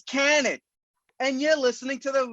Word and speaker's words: Kanik: Broadcast, we have none other than the very own Mike Kanik, known to many of you major marks out there as Kaniki.